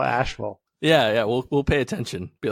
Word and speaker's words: Asheville: But I noticed it's not Asheville; it's Asheville.